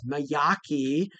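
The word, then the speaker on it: Majocchi: But I think the the proper pronunciation is myaki or at least that's how I've been taught.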